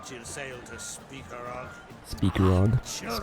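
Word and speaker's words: Spikeroog: Now I know why she said she'll sail to Speakerog. Speakerog. Children, Spikeroo, it's pronounced, the guy.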